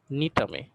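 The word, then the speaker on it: Gnetum: নগ্নবীজী উদ্ভিদের মধ্যে উন্নত উদ্ভিদ যেমন নিটামে, দেখো ইংরেজি বানানটা দেখো, এখানে কিন্তু জিটা হচ্ছে উচ্চ থাকে, জি এর উচ্চারণটা হয় না।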